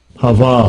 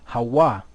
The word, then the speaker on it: Hawa: Hava. So we know that there's no V in the Hebrew, so really what should it be? Hawa.